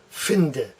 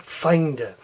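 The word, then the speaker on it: Feinde: get in the way the true pronunciation here is fin de fin de not find it so fin de that's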